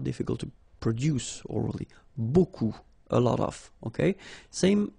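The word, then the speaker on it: beaucoup: you want to use Buu Buu means a lot of it look it looks a bit strange B like that remember you don't pronounce the final P okay and then you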